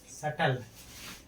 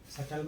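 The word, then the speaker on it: subtle: सटल, सटल माना होता है कोमल। बी के बाद क्या आया है, टी, इसलिए बी का उच्चारण नहीं होगा, इसलिए यहाँ बी क्या होगा, साइलेंट होगा।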